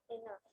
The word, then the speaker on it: enough: Miss এখানে তো এফ নেই কেন, তাহলে আমরা কেন এফ বলবো? হ্যাঁ, এটার উচ্চারণটা এইভাবে।